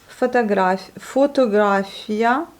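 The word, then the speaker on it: фотография: Donc les deux O qui s'écrivent, ils se prononcent comme les A. Donc ici, nous avons photographia, ça va pas, photographia et photographia.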